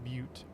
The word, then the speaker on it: Butte: I think that's pronounced Butte, by the way. Butte, yeah.